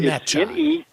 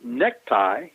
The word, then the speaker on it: Necciai: Well, the way you pronounce his last name, it's Ron Necciai. Ron Necciai. Right. It's Necciai. Now, if you had called him Necktie, then you would have been in the company